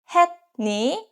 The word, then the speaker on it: 했니: And next, 했니? Did you do it? Het ends with T sound, het, and ni start with N sound, ni. So this case, het pronounced as hen.